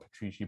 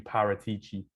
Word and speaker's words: Paratici: Paratici, I mispronounced the name, not Petrici, Paratici. Paratici. I'll say it with a Italian maybe accent.